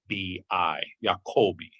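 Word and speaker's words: Jacobi: underestimated philosopher friedrich jacoby jacoby is spelled j-a-c-o-b-i yakobi now jacoby was not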